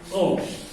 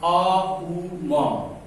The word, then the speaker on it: ओम: ये सीधे हम बोलते हैं ओम, यही बोल देते हैं जो ये गलत है। इसको उच्चारण ये नहीं है। अकार उकार मकार अ उ म संग संग अभ्यास करा देंगे।